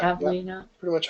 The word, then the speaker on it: Pavlina: Pavlina. Pretty much how it's pronounced.